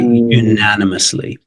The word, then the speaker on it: unanimously: so here we go we have unanimously I picked this one because of the U at the start It's Tricky unanimously second one is embargo